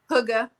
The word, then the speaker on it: Hygge: Hygge. Yes. Yeah. Say that again. Hygge. And it's spelled Hygge.